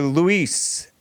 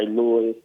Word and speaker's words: Luis: Anyways, let me get to Luis. I think I'm pronouncing your name right, Luis, out of Nebraska. Yeah, you're good. All right. Go by Louis. Louis. White people, it's just easier. Nice. To say Louis.